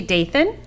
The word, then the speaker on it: Dathan: pronouncing your name right it's dathan dayson i appreciate and it's like nathan but because i apologize